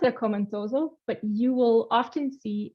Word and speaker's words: Akoma Ntoso: So we pronounce it Akoma Ntoso, but you will often see AKN as an